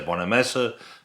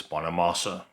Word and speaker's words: Bonamassa: I always used to say Bonamassa, but I believe it's Bonamassa.